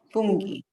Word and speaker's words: funghi: But if you add the H in front of the C or in front of the G. So for this example, fungo, what do we have to do here to maintain the hard G sound.